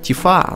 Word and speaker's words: Тифа: Кстати говоря, в японском языке, по-моему, ударение надо ставить на А. Тифа, ну, может быть и не так, но по-моему так.